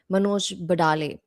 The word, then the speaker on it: Manoj Badale: And just to correct a mispronunciation, Manoj Badale.